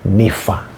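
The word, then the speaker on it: Nympha: Hatujui jinsia yake lakini anaitwa nifa. Nifa. N Y MPH A. na mwingine anaitwa Arkipo. Na wao wametamkwa kwenye Wakolosai nne kwenye sherehesha salamu za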